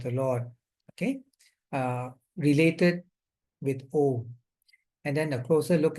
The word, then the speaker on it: Om: And the Mandukya Upanishad basically is a very deep description of the levels of consciousness and how Om, AUM is pronounced as Om, not Aum.